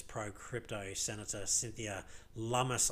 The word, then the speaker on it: Lummis: says pro-crypto Senator Cynthia Lummis, I think is how it's pronounced. I could be wrong, and correct me, but I think it's Lummis.